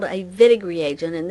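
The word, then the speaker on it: Wittig: nucleophile is called a vinegary agent and this is German so it's pronounced the w pronounced like a V and before we can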